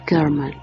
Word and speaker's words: Sherman: Se llamaba Gail Sherman, pronunciado Kerman, y estudiaba arte.